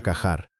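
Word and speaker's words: Qajar: Terán están haciendo estallar construcciones de la época Cajar. Y de nuevo, puedo estar pronunciándolo mal.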